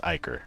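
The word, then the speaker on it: ichor: It's pronounced Icar, but...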